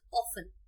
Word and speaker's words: often: This word is often. Alright, T is silent here.